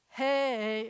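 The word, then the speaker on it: הא: now a blessed memory hey is not really a two-syllable word but she was from Texas so I mean she lived there for a while so some of these things it sounds like they're more than one syllable but it's not valve Zion Hut Ted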